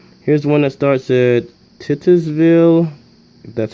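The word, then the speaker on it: Titusville: Huntington okay too here's one that starts at titters ville that's how you pronounce it Oil City franklin grove city and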